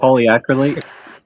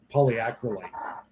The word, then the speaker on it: polyacrylate: with a 3D matrix of the sodium uh poly crawly. I can't pronounce that word right. Somebody help. Polyacrylate. Acryate. Polyacrylate.